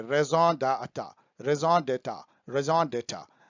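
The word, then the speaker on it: raison d'être: पाऊंगा, ये फ्रेंच है, इसको रिएजन नहीं बोलते हैं, रेजॉन बोलते हैं, रेजॉन डाटा, रेजॉन डेटा, रेजॉन डेटा। तो यदि बहुत क्रूड पढ़िएगा तो रेजॉन डी इटैट। तो रेजॉन डेटा जो है इसका मतलब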